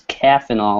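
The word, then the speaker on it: Caffenol: it kind of weird it's caffeinal like caffeine right yeah it's named after the instant coffee that is a component ingredient so it's spelled c-a-f-f-e-n-o-l um and it's a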